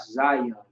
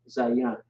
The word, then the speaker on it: Zayan: Now some people might say Qadash Zion, but it's really Qadash Zayan.